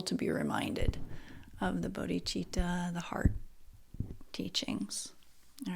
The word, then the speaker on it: bodhicitta: okay so what is bodhichitta alright so bodhichitta is a Sanskrit term right consisting of two syllables Bodhi and cheetah and Bodhi means enlightenment